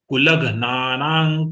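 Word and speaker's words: कुलघ्नानां: You pronounce along with la, the half gha. Then nana you can pronounce very clearly. Kulagnanang kulasya cha. But you have to pronounce half gha, then only you can pronounce na.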